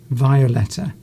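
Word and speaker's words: Wioletta: Violetta. The W being pronounced like as a V, similar as you would in German.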